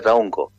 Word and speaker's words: Traunco: Lo que leíste se lee Traunco, se pronuncia Traunco. Traún es este encuentro y co es agua.